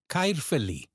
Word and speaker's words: Caerphilly: Caerphilly. Caerphilly. Famous for its cheese and also its magnificent castle. Here the stress falls on feel. So let's do it again. Caerphilly.